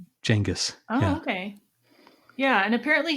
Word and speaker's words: Genghis: So that's the actual pronunciation is like Genghis.